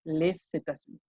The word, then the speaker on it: les États-Unis: Que si la siguiente palabra es vocal, ahí sí se pronuncia la S. Les États-Unis.